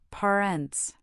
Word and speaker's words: parents: For example, parents has the stress on the first syllable, parents. Sister is sister, brother is bruh.